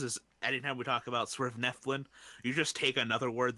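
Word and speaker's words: Svirfneblin: Nerf Neblin. Nerf Neblin? Yeah. It's Swerve Neflin.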